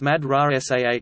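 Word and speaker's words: madrasah: In the Cairo Egyptian Arabic dialect, a heavy syllable may not carry stress more than two syllables from the end of a word, hence mad ra sah school, kahai ra Cairo.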